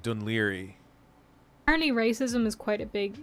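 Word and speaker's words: Dún Laoghaire: it's an Irish yeah no it said like dunleary racism is quite a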